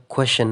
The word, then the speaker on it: question: TION راغلی دی خو سی دی باید شین اواز ورکړي، خو دا questions questions څنګه questions.